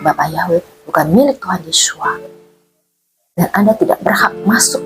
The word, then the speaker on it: Yeshua: Yin wain itu bacanya adalah Yesua bukan Yesus.